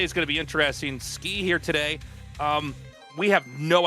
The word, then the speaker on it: Ski: Skey is spelled S-K-I. This is Skey.